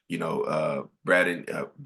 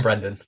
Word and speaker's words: Brendan: Maybe you're starting like, Braden, I'm sorry. How do you say your name again? Yeah, Me or him? Brad. I'm Brendan.